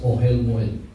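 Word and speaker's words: אהל מועד: it it is uh uh pronounced as ohelmil. It's o e l m o e d.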